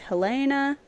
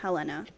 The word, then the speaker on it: Helena: go back to like Helena. I think it's pronounced Helena. I listen to MCR, so I say Helena, but Literally me when I read it.